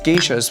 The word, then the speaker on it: Geisha: i do agree that the name should be pronounced geisha to identify its origin and not further contribute